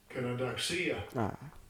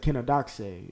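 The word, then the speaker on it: κενοδοξία: Kenodoxia. Kenodoxia. I said kenodoxe. It's kenodoxia. Okay, so it says vainglory, groundless.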